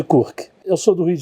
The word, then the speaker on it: Kurc: é da Bíblia e o kurk se escreve k u RC e na verdade se lê mas todo mundo me chama de kurk eu sou do Rio